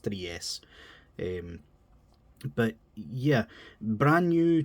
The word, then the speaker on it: Three S: a brand new studio called 3s or Tri S I think it's pronounced 3s um but yeah brand